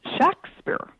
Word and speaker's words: Shakespeare: documents of the period the name was pronounced Shakespeare um with a short a.